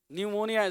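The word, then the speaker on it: pneumonia: न्यूमोनिया किसको बोलते हैं न्यूमोनिया स्पेलिंग याद रखना पी से चालू होता है न्यूमोनिया किसको कहते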